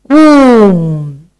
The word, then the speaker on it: womb: Womb.